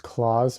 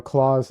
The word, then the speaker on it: Klaus: You loved Claws more recently.